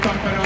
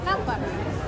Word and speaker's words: Tappara: I think I'm saying the name of the team wrong, but I'm a big fan because it's emphasis on the first syllable. Tappara.